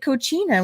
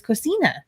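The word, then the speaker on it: Cocina: something dumb like you calling it cochina when it was kosina oh lord um see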